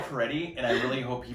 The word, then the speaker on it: Fieri: I thought it was Guy Ferrari. It's Guy Fieri, and I really hope he brings his Applebee's menu to the competition.